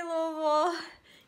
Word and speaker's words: Louisville: So the trick is to sound like, one, try to make it one consonant, or one... Just like, yeah, one syllable. Vowel. One syllable. Oh, one syllable. And say it like you have a bunch of marbles in your mouth. Whoa. Yeah, so like the worse it sounds, the better it is.